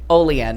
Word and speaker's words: Olean: and that's right now I think they pronounce it Olean New York so worked and then